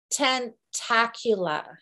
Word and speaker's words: Tentacula: not what it's called it's tentacula right i think after about three weeks of trying to say it i think i have finally got the pronunciation on tentacula and it is a